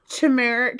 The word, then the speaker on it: turmeric: I thought it was well it's not turmeric because there's an r in it so it's turmeric it's tumor turmeric no